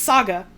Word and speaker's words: SaGa: It's probably not Saga, I just keep pronouncing it like that because the G is capitalized. It's Saga. Like you normally say.